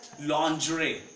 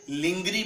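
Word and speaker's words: lingerie: Third one इज़ लजरे। That's लजरे। लंड्रे means the female अंडरगार जिसको कई लोग लिंगरी बोलते हैं। They call it लिंगरी। The spellings are एज लिंगरी। So this is नॉट लिंगरी।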